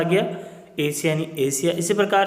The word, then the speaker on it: Asia: तो यहाँ पर देखो आप, एस के आगे क्या है, IA आ गया, तो ये क्या हो गया, एशिया, यानी गांठ वाला सा आ गया, एशिया यानी एशिया।